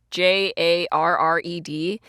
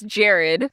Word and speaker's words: Jarred: you meet Jared who his name is spelled j-a-r-r-e-d and I always want to read it as Jarred but it's Jared you know it's hilarious